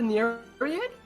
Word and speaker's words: Nereid: She kind of like takes a knee by the face of how do you pronounce it? The Nereid? Yes. Quite. Is that how you pronounce it? Nereid?